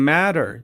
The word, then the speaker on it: matter: دوستا دبل تی در وسط و شکل د تلفظ میشه. What's the matter؟